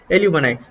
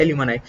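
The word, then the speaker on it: alumni: यहाँ पे इसको प्रोनाउंस आप ऐसे भी बोल सकते हो एल्यूमनी, बट सही में इसका प्रोनाउंसिएशन होता है एल्यूमनाई।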